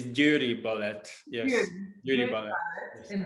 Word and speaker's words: Győri: It's Győri Ballet.